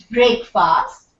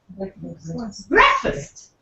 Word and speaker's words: breakfast: So it's not breakfast, it's breakfast. Breakfast. See, that is the spelling that you see. B-R-E-K-F-U-S-T. Breakfast.